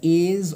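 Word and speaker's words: edge: দ্য এজ অফ দ্য অ্যাক্স, অর্থাৎ সেই কুঠারের ধার, ঠিক আছে, তো এটার উচ্চারণ হবে এজ, ঠিক আছে, এখানে ডি সাইলেন্ট থাকবে।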